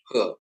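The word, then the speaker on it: ה: Alef, bet, gimel, dalet, he. Masuk ke ya. Konsonan Ibrani ke ya. He diucapkan seperti H dalam kata hati.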